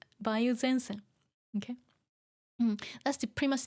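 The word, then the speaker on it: 梅雨: You're talking about tsuyu, but Bayou is it's pronounced Bayou when it's, let me see, on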